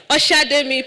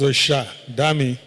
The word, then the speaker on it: Oshademi: but Asha Oshademi. Please forgive me if I murdered your name. Please, a round of applause. Thank you. What's the actual pronunciation? It's Osha Dami.